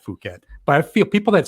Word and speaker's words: Phuket: lot of people say Phuket instead of Phuket. That would kind of get me like, oh, come on. Now, if you're here, you got to realize it's Phuket. Like, it's not Phuket.